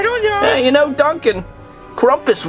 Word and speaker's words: Krampus: know you know Duncan Krampus rhymes with rumpus oh my god what